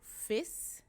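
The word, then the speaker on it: vies: e and a so fists and feasts so e is written with i e so when you see a word and there's an i e inside they pronounce it as e so fis which means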